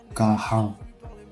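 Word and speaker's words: कहाँ: Où, c'est Kahan. Encore une fois, le N est nasal. Et le H, il faut le prononcer. Kahan.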